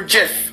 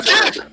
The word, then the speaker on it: GIF: Is it pronounced the GIF or JIF? It's a GIF!